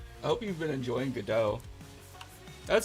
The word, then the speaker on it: Godot: I hope you've been enjoying Godot. That's how you say it, right? It's not Godot.